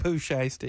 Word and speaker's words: Pooh Shiesty: Is that how I pronounce it, by the way? Yeah, Pooh Shiesty.